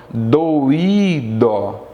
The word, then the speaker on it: doído: Olha a palavra doido, doi, dó. Percebe? Doi está na mesma sílaba. Dó na segunda sílaba. Agora, quando eu falo doído, eu separo.